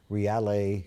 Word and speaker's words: Reale: But today we want to talk about your clothing company, Reale Co. Is Yes, that sir. right? Did I pronounce it right?